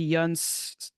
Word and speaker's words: Yan: to shout out gisto Yan which I have been told that it's pronounced the young rhymes with sun so yeah for folks